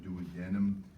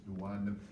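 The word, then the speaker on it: duodenum: the stomach and this dadum and there different ways of pronouncing ing things depends where you are in the country do denim dadum Dum so as you know it's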